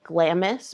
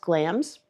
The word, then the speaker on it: Glamis: It's spelled like it would be pronounced Glamis, but it's pronounced Glamis.